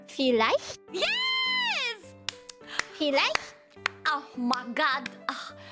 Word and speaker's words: vielleicht: But when it's like an EI, you pronounce it as I. So IE is E and EI is I, not A.